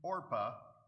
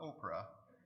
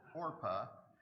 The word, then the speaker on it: Orpah: married a woman named orpah get that pronounced right it's not oprah it's orpah and the other a